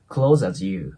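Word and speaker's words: clothes as: で今回はね S の音ま濁った音で終わるんですけどその後ボインなので CL て感じでリンキングします Close as you ですねなの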